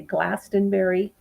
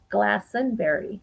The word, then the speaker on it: Glastonbury: a lot of apples it is not strictly correct to pronounce the t in glastonbury so you know we might have a tendency to say glastonbury because that's how it's